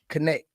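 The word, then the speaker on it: Knecht: connect dton connect yeah it's like it's like the bank connect that's connetic kind of like Westside connect Sno Nick Nam them yeah like so you just you just pronounce it like connect yeah okay and um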